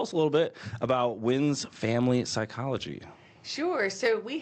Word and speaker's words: Wynns: A lot of people leave off the S and just say win. So you nailed it.